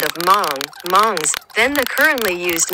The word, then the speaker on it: Hmong: But the word Hmong, if pronounced correctly in Hmong, is a nasal word, Hmongs.